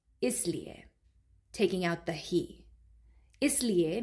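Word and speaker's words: इसलिए: Tum isliye, right? Do you hear that? Isliye. There's like a emphasis on he.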